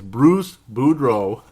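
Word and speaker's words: Boudreau: say that boo BR Buro deal it's Bruce Buro it's not that hard to pronounce it's just that they're similar and you can screw it up really easy Bruce budro ultimately getting fired by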